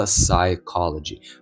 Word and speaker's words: psychology: Перше слово, а може і останнє на сьогодні - це слово psychology. Перше, що ми робимо, це ігноруємо нашу П. Будьде, де є PS, пс. П не буде читатися.